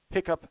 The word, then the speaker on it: hiccup: Hiccup has the sound of cup.